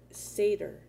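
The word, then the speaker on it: seiðr: norse traditions of scandinavia comes the sorcery of seder that's how you say it okay the practice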